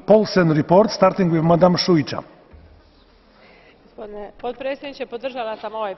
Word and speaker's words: Šuica: Is that the correct pronunciation? Šuica? Yes, you are right.